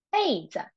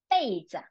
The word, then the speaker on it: 被子: Don't let our personal belonging 被偷了 okay, 被偷了 The second one, 被子, 被子.